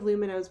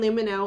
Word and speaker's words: Lumineux: or alcohol in any of luminos products everything is dentist formulated backed by over